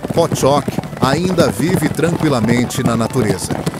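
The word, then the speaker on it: Pottok: No sopé dos Pireneus, onde as montanhas majestosas descem a pastagens verdejantes, o cavalo Potoc, pronunciado Pchock, ainda vive tranquilamente na natureza.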